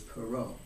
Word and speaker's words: Perot: But back before great-grandfather, it was Perot. They removed the hyphen from it. It was French.